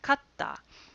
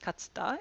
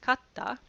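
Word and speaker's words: katta: this word is pronounced Kata it's not pronounced katsda it's pronounced Kata and this becomes in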